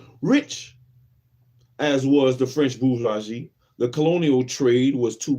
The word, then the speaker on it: bourgeois: And the British bourgeois, let's see how we pronounce that. Bourgeois. Is it bourgeois? Bourgeois.